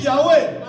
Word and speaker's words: Yahweh: Vous savez que dans la Bible hébraïque, ou même chez les Juifs, moi je prononce Yahweh.